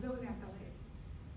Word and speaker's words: zooxanthellae: you could say zooxanthellae i've always been talking zozanthalee so the x is a z sound at the end zone